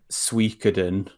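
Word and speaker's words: Suikoden: that was basically for this like new uh suikaden that's how you pronounce that word um game i love that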